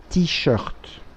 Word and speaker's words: t-shirt: À qui étaient ces t-shirts? Футболки переводится как t-shirt. Мы произносим как по-английски.